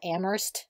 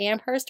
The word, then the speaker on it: Amherst: people who go to Amherst actually call it am Hearst so I think I may have pronounced it wrong do you have any insight on this at the Amherst er Amherst you know the thing about Massachusetts